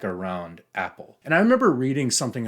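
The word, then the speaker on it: æppel: in Old English have apples an apple pronounced the same in Old English as in Modern English wasn't apple or fruit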